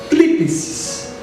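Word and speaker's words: θλῖψις: no grego, deixa eu até tomar água para pronunciar isso aqui, usa para tribulação, thlipsis, T-H-L-I-P-S-I-S, thlipsis.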